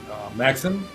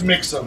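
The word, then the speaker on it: Mixam: Uh, I hope I'm pronouncing this correct, not Maxim. Okay. Min max mother vi mixum. M I X A M. Yeah. Yeah, it's it's mixum.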